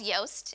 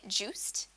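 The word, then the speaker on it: Joost: by a person called Yoast and he's Dutch and his name is spelled I think Jo OST but people kept saying it juste even though Dutch people the J is why so that's why he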